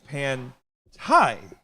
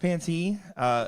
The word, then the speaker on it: Pantai: We did get a comment in here saying it's pronounced Panty. It is not. We asked her. It is Pantai.